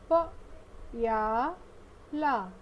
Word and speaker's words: प्याला: आइए इस शब्द का हम उच्चारण करना सीखें। प या ला, प्याला।